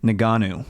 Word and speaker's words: Ngannou: Ngannou.